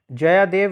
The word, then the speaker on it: जयदेव: जयादेव लिखा है लेकिन इनको जो प्रोनाउंस किया जाता है वो जयदेव किया जाता है।